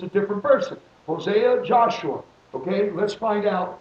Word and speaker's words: Hosea: writing of the scribe so it's hosea oseah it's not shuma it's hosea it is you can